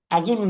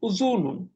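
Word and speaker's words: أُذُن: বুঝলি, নাক হইলো আনফুন, জি, আনফুন ফামুন, আজুনুন আইনুন, উজুনুন, আজুনুন না, উজুনুন।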